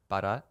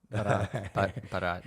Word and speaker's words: Bharat: Bharat. Bharat. Bharat. Turkmenistan. Bharat. Can you spell it?